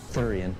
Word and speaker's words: Theuerian: The Nick is dead thurian pronounced like sewer only with a lisp known as the cactus